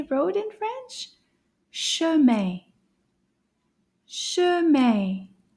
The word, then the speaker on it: chemin: Chemin. Chemin. Combien de syllabes? Chemin. Chemin. 2 syllabes. Chemin. 2 syllabes. Can you find the E sound?